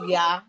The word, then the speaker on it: Yaa: So you'll be Ya for the girl, and then my God, the boy. Yeah. That is spelled YAA, and then wow, the boy will be Yao.